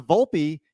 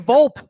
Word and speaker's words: Volpe: I mean come on um but what's funny is I know it's pronounced Volpe you know who wasn't pronouncing his last name Volpe no Susan and John I kept saying vulp uh you gotta you gotta love this Vault